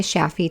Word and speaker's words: Shafie: Connect with her on LinkedIn or Instagram at Sheeta Shaffi to learn more. Sheeta is spelled Shideh, and Shaffi is spelled Shafie.